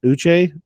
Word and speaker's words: Uche: that Josh, I don't even know how to pronounce his last, Uche.